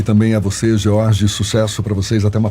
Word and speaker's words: Jorge: O seu Jorge tem S no final, mas eu estou falando corretamente, né? A gente não pronuncia. É George mesmo, né?